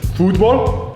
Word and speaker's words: fútbol: Spanish-speaking countries, this is actually referred to as futbol, and it's spelled like this.